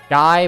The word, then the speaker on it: Guy: I think it's Guy, but I could be wrong. That's how I was told it's pronounced.